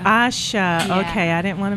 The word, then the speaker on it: Asha: I like that wow and AA am I pronouncing your name Asha Asha okay I didn't want to mess that up